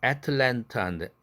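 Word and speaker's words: Atlanta: 다음 단어는 애틀랜타인데 애들트가 옆구리로 세는 거 L 때문에 아까 연습했죠. 좀 앞에서 애틀랜타인데 트 날라갑니다. 애틀랜타 이러죠.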